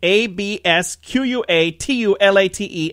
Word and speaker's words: absquatulate: as you pronounced it ab squatchy late abs qu atul a te absquatulate verb it is to